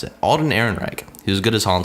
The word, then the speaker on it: Ehrenreich: any of those who don't know how to pronounce it Alden Ehrenreich he was good as han Solo the guy